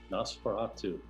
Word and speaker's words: Nosferatu: How do you pronounce that? Nosferatu.